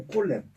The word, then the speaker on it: Colet: Alors il faut prononcer mon nom, ou en français Collet ou Colette, bon. mais Collet non.